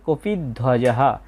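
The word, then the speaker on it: কপিধ্বজঃ: কপিদ ওয়াজাহা এখানে আমরা একসাথে যদি বলি তাহলে হবে কপি ধ্বজাহা। তাহলে পরের চরণটার উচ্চারণ হবে ধার্তরাষ্ট্রান কপিধজাহা।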